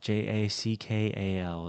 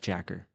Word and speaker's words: jackal: So, let me change that so it does know how to pronounce that. Right. All right. J A C K A L. Jackal instead of Jacker.